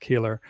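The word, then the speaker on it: Koehler: Kohler. Yeah. Yep. Kohler. Yeah. Yep. But it's pronounced Keeler.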